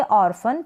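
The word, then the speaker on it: orphan: इसको पढ़ेंगे ऑर्फन, पी एच को फ पढ़ा, क्या पढ़ा पी एच को फ। आप इस जो आर है ये, इसको आप चाहे तो प्रोनाउंस करें या फिर आप हल्का सा ऑर्फन आधे र के रूप में इसका उच्चारण कर सकते हैं, ऑर्फन, पी एच को फ, ऑर्फन या ऑर्फन, इस तरीके से। ऑर्फन का मतलब है अनाथ, क्या है अनाथ, पी एच को फ रीड किया।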